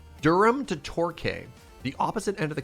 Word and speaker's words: Torquay: Torquay, but it sounds more A than E.